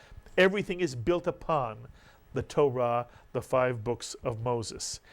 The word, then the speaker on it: Torah: most important word and this word is Torah Torah is correct Torah or taurah and taurah is the